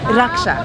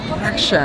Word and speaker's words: Raksha: ¿Cómo se pronuncia tu nombre? Raksha. Raksha.